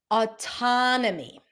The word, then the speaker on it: autonomy: Autonomy. Autonomy. Having lived in New York for many years, this is how I usually pronounce it with an A sound.